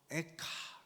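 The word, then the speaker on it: איכה: 히브리어로 에카 이거든요. 어 에가는 슬픈 노래라는 뜻인데 실제로 첫절이 에카예요. 그거는 어 히브리어 발음이죠.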